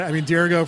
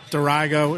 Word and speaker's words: Dirigo: We had, Dirigo, for those who don't know, or Dirigo, it turns out either pronunciation is correct.